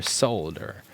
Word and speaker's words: solder: I'm trying to pronounce the L, since I know that you're from Europe, and they pronounce the L in their solder when soldering.